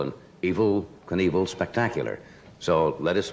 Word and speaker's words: Evel: you met It's not E V I L. Evil. It's really It's Eve Vel. I suppose he pronounces it evil, does he not? I think he says evil.